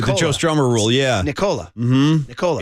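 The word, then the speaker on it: Nikola: It's my mnemonic device to remember it's pronounced Nicola, not Nicola.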